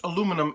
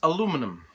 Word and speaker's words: aluminum: Jamie Page has instructed me that it's not pronounced aluminum, it's actually pronounced aluminium. However, my other maker friends from the States here say that it's aluminum.